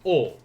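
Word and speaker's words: を: to see and remember this is pronounced as o even though there's a w in front of it uh that's it's not uh you don't sound it out you just say oh particle the object or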